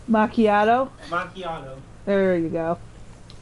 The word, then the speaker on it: macchiato: That's caramel macchiato. Macchiato? Macchiato. There you go. It's fun watching kids try to pronounce words that like sound nothing like how they're spelled.